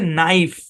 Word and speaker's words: knife: যেমন একটা উদাহরণ দেখুন, KNIFE, FE, এই শব্দের উচ্চারণ হচ্ছে নাইফ। কি উচ্চারণ? নাইফ। বাংলা যদি লিখি এরকম, খেয়াল করুন এই শব্দটা শুরু হয়েছে কিন্তু কে দিয়ে, কিন্তু এই কে এটা উচ্চারিত হয় নাই। সুতরাং কে এখানে সাইলেন্ট আছে।